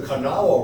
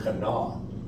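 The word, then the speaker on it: Kanawha: now West Virginia west of Charleston on what is spelled k-a-n-a-w-h-a River and I went there one time and said this is the canal where we go no the canal thank you appreciate that I'd like to learn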